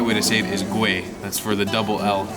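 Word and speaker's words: Güell: definitely not because I didn't know how to pronounce it earlier so the actual right way to save is gray that's for the double health at the end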